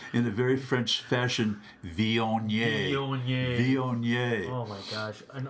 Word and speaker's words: Viognier: So listeners, what he's doing is taking his left index finger to his left nostril, preparing to pronounce in a very French fashion, Viognier.